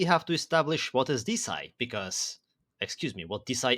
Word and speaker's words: DeSci: It's the evolution of hashtag DeSci, or DeSci, but it's actually pronounced DeSci, I was told.